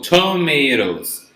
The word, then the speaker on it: tomatoes: So in English, we're going to read T when it's the strong intonation in the word. It's the strong syllable, right? So tomatoes.